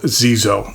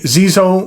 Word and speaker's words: Xezo: by the name of Zeo that's spelled X Zoo uh I reviewed another one of their pens a while back called the Incognito but I have a different model for you today the Zeo Maestro lron uh what